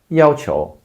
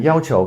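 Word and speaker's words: 要求: But with 求 before it, the tone changes. That's what Chinese characters do sometimes. The pronunciation changes or only the tone changes. So in this case, 要 first tone, 要求.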